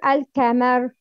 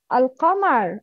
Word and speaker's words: القمر: It's القمر أو الكمر؟ No, القمر. القمر.